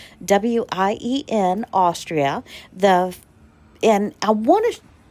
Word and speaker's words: Wien: It is the Vienna City West Hampton Hotel, and it is at in Vienna, which they pronounce Wien, Wien, Austria.